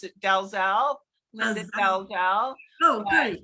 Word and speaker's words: Dalziel: So in America, we pronounce it Dalziel, Linda Dalziel. Oh, great. In Europe, the original pronunciation is DL.